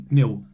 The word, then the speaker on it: pneu: Então, o P e o N realmente são P e N, pneu, pneu, enquanto eu nem sei pronunciar isso.